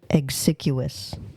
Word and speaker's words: exiguous: Exiguous. I'm going to play it again because I didn't pronounce it right.